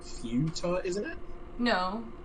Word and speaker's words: futa: It's How do you Fuda. pronounce it's just futa. it? I'm gonna Google it. Like futon, except with the futon.